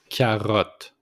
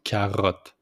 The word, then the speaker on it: carotte: Carotte. Carotte. Just put the accent on the R with the throat. Carotte.